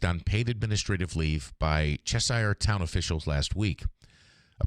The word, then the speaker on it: Cheshire: A police chief in, I think it's Cheshire, is how you say it, Cheshire, appeared for an arraignment